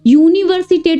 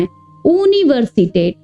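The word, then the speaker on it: Universität: इसको बहुत लोग क्या करते हैं, यूनिवर्सिटेट बोलते हैं, तो वो गलत होता है। जर्मन में ना यू को ऊ की तरह प्रोनाउंस करना है, यूनिवर्सिटेट।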